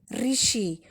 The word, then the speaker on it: ऋषि: तो बच्चों यहाँ पर हम ऋषि का उच्चारण कैसे करेंगे? ऋषि।